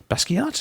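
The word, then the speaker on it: Basquiat: Jean Michelle basat yeah basat is how you say the artist basat basat I'm the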